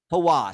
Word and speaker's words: Hawass: How do I pronounce his name? Hawass. Hawass.